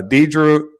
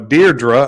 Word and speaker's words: Deirdre: I met her on on Tik Tok uh Dedra no deardra I actually pronounced it right the first time we talked